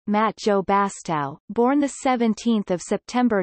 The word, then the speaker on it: Mathieu Bastareaud: Matt you bastard French pronunciation Matt Joe Bastile born the 17th of September 1988 is a